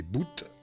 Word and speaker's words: bout: alam bout au courant bouh prononcé boot est le terme générique